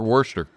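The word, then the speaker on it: Wurster: Uh Rick Worester, I believe I'm pronouncing that correctly. Yeah. Okay. Not best. Worester. Yeah. best or worst.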